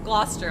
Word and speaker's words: Gloucester: This whole stream is teaching Em how to pronounce all of these names within the UK update. Gloucester.